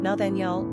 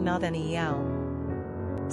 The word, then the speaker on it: Nathaniel: Pronunciation, Nathaniel or Nethan'el.